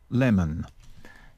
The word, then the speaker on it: lemon: Trọng âm nhấn vào âm đầu tiên cho nên âm E này thực sự đọc bằng âm E.